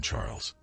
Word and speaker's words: Charles: fixing my gaze on Charles. "You're so thoughtful, my dear husband," she replied. Charles, pronounced the French way as Charles, struck me as your typical Eurotrash type.